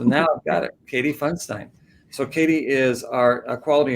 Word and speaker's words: Pfundstein: Is it Pfundstein or Pfundstein? It's Pfundstein. Yeah. Okay, I said it wrong. So now I've got it, Katie Pfundstein.